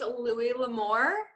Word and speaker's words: Louis L'Amour: I read my first Louis L'Amour book.